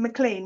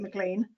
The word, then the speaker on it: McLean: my name right and most people pronounce my name mclean which to be fair is how it's spelt right and um i have family um in canada and they pronounce it mclean so it's not uncommon for people to pronounce it that way all right so so